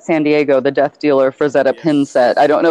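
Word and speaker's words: Frazetta: Fredzetta, F-R-A-Z-E-T-T-A, because sometimes I have problems pronouncing things correctly.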